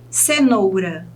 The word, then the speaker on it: cenoura: conferir então lâmpada lã cavalo vá Leão ão cenoura nou borboleta ler e rádio o rabo Ok